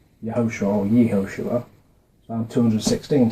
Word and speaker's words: Yehoshua: And it's vowel pointed like this, which is usually pronounced Yehoshua or Yehoshua. Right? This little, I don't know the names of the pronunciation dots, but I can read them. It's like Yehoshua, but anyway, it's pronounced the same as the full version.